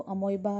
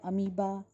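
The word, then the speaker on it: amoeba: अमोनिया इज़ the main waste product that is formed in the body of इसको अमोइबा या अमीबा, दोनों pronunciations correct हैं, ठीक है.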